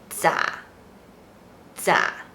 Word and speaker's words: 咋: is also regional In daily life, it is pronounced as “咋 zǎ” It can be used to replace “怎麼” Here are some examples To be more casual, you can say “咋辦?”